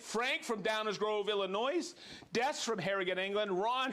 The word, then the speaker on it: Illinois: said oh you're from Illinois and they go the S is silent I go really okay